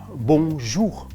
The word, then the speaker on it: bonjour: So it's called bonjour. So in that word itself, you have a nasal sound, bon, and then you have a slight dry R at the end.